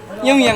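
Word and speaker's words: 영향: ইয়ংয়াং মানে কি? ইয়ংয়াং মানে প্রভাব। এখানে হিউদের উচ্চারণটা ওইভাবে হবে না।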